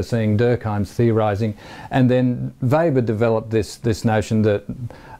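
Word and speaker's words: Weber: in 1883 um max vber U webr sort of like the barbecue H without the extra B and pronounced with a V Max vber um uh who died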